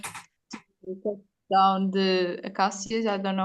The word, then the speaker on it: acacia: Species, yeah, it's acacia. It's acacia.